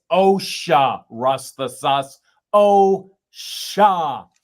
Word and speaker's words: OSHA: It's OSHA, rust the sus. OSHA.